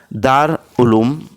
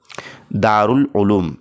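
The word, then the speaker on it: دار العلوم: Number एक है दार उलूम। नंबर दो है दारुल उलूम। नंबर तीन है दा प्लस रा प्लस लाम प्लस उलुम और नंबर चार है दार प्लस अल प्लस उलूम। तो फ्रेंड्स इसका जो सही तलफुस और प्रोनाउंसिएशन है वो है ऑप्शन नंबर दो दारउल उलूम इस तरीके से।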